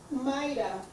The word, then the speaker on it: Mayra: Mayra. Mayra, okay, thank you. And it's spelled M-A-Y-R-A.